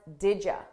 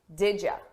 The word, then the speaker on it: did you: Did you, we pronounce this as didja, didja, didja. So I combine those sounds together and I take you and I change it to ya, didja, didja.